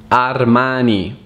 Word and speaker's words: Armani: It's actually Armani. Armani. Armani. Armani è una marca molto famosa.